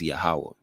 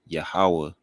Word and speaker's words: Yahawah: The name of the Most High is Yahawah. But, people have arguments. Many use the pronunciation Yahweh. Some use Yahuwah. But in this video, I'll speak to why I believe Yahawah is most accurate.